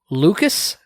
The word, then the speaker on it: Lucchese: Members of the Lucas, but it is not spelled like Lucas. How do you spell it? Lucchese crime family. LUCC. Sounds like Lucas.